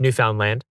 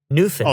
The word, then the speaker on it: Newfoundland: It is, I mean, you'd think, being an English speaker, it would be pronounced Newfoundland, right? But I know a bunch of people from that place, and they all get really angry if you say it that way.